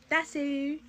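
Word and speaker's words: です: If it's pronounced des, why does it have a U on it? Desu.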